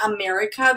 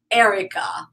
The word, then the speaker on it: Erika: I told you that people here called me America because when I introduce myself I say hi America hi America so no I'm Erica but actually I think I mentioned that I